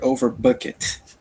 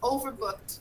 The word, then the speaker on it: overbooked: available on the plane i heard over bucket yes overbooked no like over bucket bucket the pronunciation is overbooked yeah so overbooked means